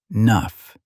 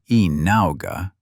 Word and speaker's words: enough: He pronounced it clearly, breaking it into sounds, e enough. not ena, which was how the letter suggested it should sound.